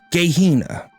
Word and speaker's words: Gehenna: Gehenna. Hard G. Gehenna.